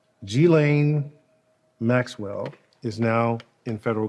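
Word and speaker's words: Ghislaine: couple times i want to make sure i pronounce her name correctly g-lane maxwell is now in federal custody um number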